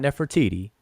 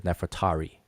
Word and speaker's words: Nefertari: stickler on chief ex this is not nefertiti it's nefatari all right you can see her name in the glyphs ahmos neferet eri is her name but we say we pronounce it as nefertari all right that's not enough for tt it's nefertari neferet eri all right but anyway